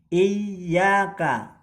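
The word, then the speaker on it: إياك: Jadi bukan Iyyaka tapi Iyyaka.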